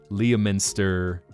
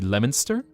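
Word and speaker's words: Leominster: But it's actually Lemonster. Oh, I see how that works. Minster and and Stirs Cer towns have those interesting British pronunciations. Or anything with a stir, just look at it and go, "Okay, you're going to be hearing some British bullshit." Whether it's Lemonster where they just drop the O, or it's Worcester, where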